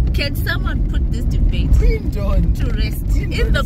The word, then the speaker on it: Quendon: Veritas Sports Club on Quindon. Chongs insists it's pronounced Quendon. Because it's Q-U-E. Yeah. But do you say the Queen People of England? People say Queen. You don't say the Queen of England.